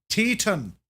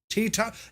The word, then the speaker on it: Teton: That isn't how you pronounce it. Teton. Teton.